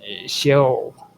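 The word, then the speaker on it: Sheol: The term is different from the more neutral term shell which is spelled sh h e o l the abode of the dead.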